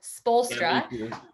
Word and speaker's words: Spoelstra: still have to like think about how to spell it sometimes so spolstra yeah i live in uh coeur d'alene idaho